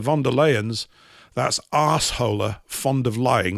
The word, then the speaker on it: von der Leyen: The West is burning, while the Starmers, the Scholzes, the Macrons, the von der Leyens, that's arseholer, fond of lying, that's how you pronounce her name, and even the Pope all fiddle, which they do."